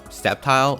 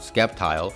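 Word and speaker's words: Sceptile: need to argue that it's septile and not skepti but I did want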